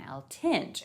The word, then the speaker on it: Eltinge: facts around his life starting with how you pronounce his last name the only thing that i could find like from the time where i heard somebody pronouncing it was this short clip of this thing from the late 20s where he was on like this variety show reginald dunny introduces him as julian l tinge and i was like